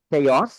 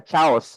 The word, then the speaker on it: chaos: Kita menyebutin kata eh chaos kita bilangnya chaos. Nah, itu pasti salah. Chaos yang benar.